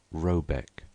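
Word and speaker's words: Rabaeck: a e c k pronounced something like roebek though that is not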